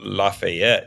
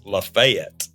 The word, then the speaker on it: Lafayette: in the Revolutionary War is not Lafayette it's lafette and I was just